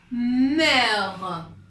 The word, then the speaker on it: mère: Donc, on a ici mère, mais on a besoin d'un accent pour prononcer mère.